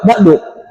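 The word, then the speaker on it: بعد: Amma ba amma ba'da ba'du diumahkan tuh amma ba'du. Enggak ada yang amma ba'da tapi ba'du.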